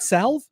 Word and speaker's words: salve: Is it not salve? I always thought it was salve. Salve. Been saying that wrong for 38 years.